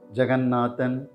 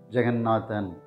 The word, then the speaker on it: Jagannathan: we pronounce the name this name can be pronounced in two ways Jeganathan or Jaganathan Jeganathan or Jaganathan Jeganathan